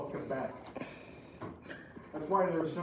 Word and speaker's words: Quebec: Yeah, the Q is pronounced with a K. Quebec. Bro, what is you doing?